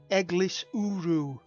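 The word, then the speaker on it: Eglwyswrw: rain on the way The Village name is pronounced egis uru and is home to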